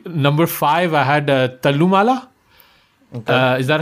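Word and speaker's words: Thallumaala: a note of it do not pronounce the h i I tried to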